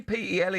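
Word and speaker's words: Pelé: Polly, P-E-L-E. How'd you pronounce that?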